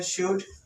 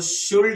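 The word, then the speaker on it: should: इधर लिखते हैं शुड, इसको शुल्ड लिखा था, लेकिन एक बात है, यहाँ पे एल साइलेंट है।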